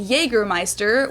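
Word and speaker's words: Jägermeister: in German yea MAA English speakers usually say a Jagermeister which is pretty much the same just with a pretty thick accent and people also often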